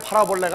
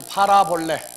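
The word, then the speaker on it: παραβολή: 여기에서 헬라어에서 다같이 파라볼레, 사볼레, 파라볼레가 아닙니다. 파라볼레. 그래서 이건 합성어예요. 그래서 파라 더하기 발로 필름 한번 비춰보고요. 비유라고 하는 단어. 예. 아니, 먼저 콩코단스를 먼저 비추라. 예. 그래서 다 같이 파라볼레.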